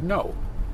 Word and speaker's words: know: you say I know it sounds like no N oh not k n 0 w so when you tie